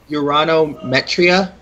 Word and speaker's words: Uranometria: Before we get too far past it, it's Uranometria. Okay. Uranometria. It's the first word that's hard to pronounce, but I know second word's Metria. But I thought I heard metronome or metronome, something like that.